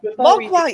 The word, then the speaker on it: Mogwai: Mogwai, yes, a gremlin.